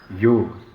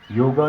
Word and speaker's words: योग: चीज़ बोलना चाहूँगा कि हम सारे जो हैं इसको गलत प्रोनाउंस करते हैं। हम सारे योगा बोलते हैं। योगा जो टर्म है वो दी है विदेशियों ने। हम लोग, हमारी सभ्यता के लोग इसको योग बोलते हैं। संस्कृत में इसका उच्चारण योग है।